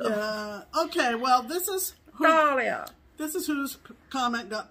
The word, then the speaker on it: Dahlia: Well, that's the correct pronunciation of Dahlia. I'm well aware. It's like the flower, the Dahlia.